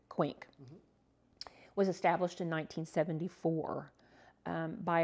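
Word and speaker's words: Quinq: quaint club which is rhymes with wink and it's spelled q-u-i-n-q quink was established in 1974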